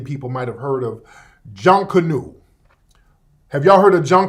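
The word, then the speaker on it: Junkonoo: might have heard of junk canoe have y'all heard of John Canoe how you spell it j-u-n-k-o-n-o-o you spell it different ways but the pronunciation is John Canoe now John Canoe it's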